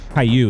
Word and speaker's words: Caillou: okay an animated series Caillou is how it's pronounced okay Caillou um huh